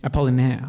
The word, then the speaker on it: Apollinaire: Is Gwyn pronounce for me. Apollinaire.